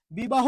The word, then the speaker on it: বিবাহ: তাহলে একটু আপনারাই বলুন বিবাহ কি হবে বি বা হো শেষে কি আছে হ আছে ওই জন্য কি হইলো